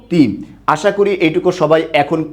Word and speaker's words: তনু: ভাবে ত যে আছে ত এর শেষেও কিন্তু অ আছে এবং পরের বর্ণের রসও আছে তাই এটার উচ্চারণ কি হবে তনু এইটুকু সবাই আশা করি